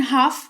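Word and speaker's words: half: फिलहाल जान लो कि एच ए एल एफ लिखा हुआ है लेकिन हाफ इसको पढ़ेंगे। एल का उच्चारण नहीं करते हैं और इसका मतलब होता है आधा या आधी।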